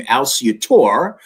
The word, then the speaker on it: Alciatore: The family pronounces the name Alciatore.